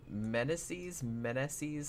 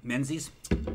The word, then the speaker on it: Meneses: I'm not really sure how you pronounce his last name. Menzies? No, it's M-E-N-E-S-E-S. Meneses. Meneses, probably. Meneses, I think is. Yeah, now that I say it like that, I'm like, yeah, I think that's right.